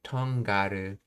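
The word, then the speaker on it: とんがる: Let's see, togaru and tongaru are alternative pronunciations of the same verb.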